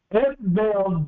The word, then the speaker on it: Ethbaal: in between, was Ethbaal, E-T-H-B-A-A-L, like two syllables, F-E-T-H-B-A-A-L, Ethbaal.